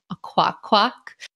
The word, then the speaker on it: Akwakwak: Another case of onomatopoeia in Pokemon names is Golduck's French equivalent, a quack quack. This is a really adorable name since it's more or less how a child would pronounce a duck's quack.